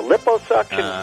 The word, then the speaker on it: liposuction: do you pronounce that a liposuction no lip Oh suction did I pronounce it